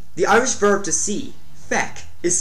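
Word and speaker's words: feic: word to see the Irish verb to see feck is spelled like is pronounced Fe and it's spelled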